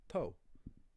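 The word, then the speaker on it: togha: Another one is OGH or OGHA, which is pronounced, in Munster at least, O. So you get words like toe, or in other dialects, toe, which means great.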